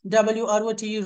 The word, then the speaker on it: wrote: When ever you find a word starting with WR in English language, W always is a silent letter. WRATE write, WROTE wrote, WRATTN written, WRAPPE rape.